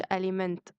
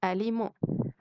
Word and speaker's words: aliment: طعام أو غذاء اسمه aliment aliment، يعني الأطعمة عامة اسمها aliment aliment، مش اسمهاش aliment. ال MENT بتتنطق مو عندنا، يبقى اسمها aliment.